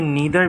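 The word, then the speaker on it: neither: ईदर भी हो सकती है और आइदर भी हो सकती है, ठीक है। ये नीदर भी है और नाइदर भी है, डिफरेंट प्रोनाउंसिएशन, इसकी 2 प्रोनाउंसिएशन हो सकती है, ठीक है।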